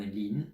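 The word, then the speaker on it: 林: Oui, en tant que nom de famille, et là je vous donne sa prononciation, parce que c'est un nom de famille assez connu en Chine. Monsieur ou Madame Lin, si vous entendez ça, c'est l'équivalent du nom de famille français La Forêt.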